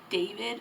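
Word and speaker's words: d4vd: Chris I think it's David is how you pronounce it but it's like D4 VD but I think it's pronounced David so I think those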